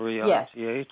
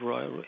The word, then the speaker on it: Reich: But what another thing you spoke about in your book is, see if I pronounce this right, origami? Origami? Origami. What is that? Wilhelm Reich, is that what you're talking about? R-E-I-C-H?